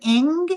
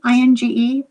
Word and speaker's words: Inge: But this was a William Ing. Is that how you pronounce his name? Inge?